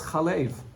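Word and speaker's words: חלב: So now, no, the Mikra is Chalev or Chalav. The Mikra refers to how you pronounce it. So the pronunciation is Chalav, milk.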